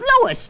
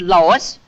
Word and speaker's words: Louis: Me name is Louis, not Lois. Chief Whiz, everybody interpolates me name wrong. It's Louis.